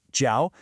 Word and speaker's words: 叫: This verb, jiao, pronounced jiao, is your absolute best friend for talking about names.